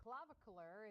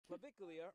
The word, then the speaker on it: Clavicular: Online influencer named Clavicular is being charged with misdemeanor battery. So when it comes to online influencer, Clavicula, wait, how do you say that again? Clavicular, or clav, is what he's also called.